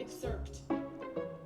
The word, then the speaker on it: excerpt: to work is I will be reading ex expert excerpts. Is it called I don't think I know how to pronounce that word. Okay, let me get into my headphones. Excerpt.